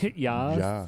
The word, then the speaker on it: Ja: No, it's Ja. ja. Yeah. Ja. Ja. Is it ja? I don't know. Yeah. How to say yes in German? Okay. Ja. Yeah, it's ja.